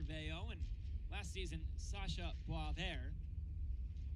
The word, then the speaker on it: Boisvert: Of course, the Lumberjacks have Xavier Veillot, and last season, Sacha Boisvert. Never spelled the way it sounds.